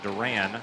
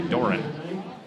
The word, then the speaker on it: Doran: That was Wyatt Duran. Good for a couple. Excuse me, Doran. Put the wrong emphasis on the wrong syllable.